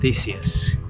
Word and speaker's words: Theseus: So we're having a conversation to try and determine the actual way to pronounce the name. And it sounds like we arrived at Theseus.